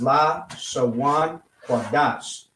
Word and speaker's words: Lashawan Qadash: is Lashawan Qadash, which if I was to spell it out for you to be able to read, I'll say in English, this is how it would be pronounced: Lashawan Qadash.